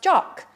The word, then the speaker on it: Jack: is a male and is called Jack but it always it is always pronounced jock the smaller one is